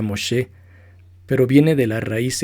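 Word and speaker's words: משה: En hebreo su nombre significa sacado de y se pronuncia Moshe, pero viene de la raíz egipcia Mosú o Mesú, que significa hijo o niño.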